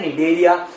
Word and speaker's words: Cnidaria: तो यहाँ पे ये जो सी लिखा है, ये सी साइलेंट होता है और इन लोगों को बोला जाता है निडेरिया।